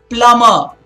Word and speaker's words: plumber: Plumber. Not plumber. The B is silent. It's plumber. Please remember that. Okay, those are silent B.